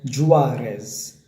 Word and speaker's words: Juarez: back there and remember you pronounce this as jus RS okay I'm putting on an accent of s urs with the stress on the R so there you have